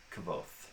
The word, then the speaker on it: Kvothe: on the pronunciation, and so Patrick Rothfuss referenced the Yiddish word kvetch as kind of the same KV sound at the beginning, and then he said the O is like whole or roll, and then the E is silent. So from there I get kind of a Kvothe.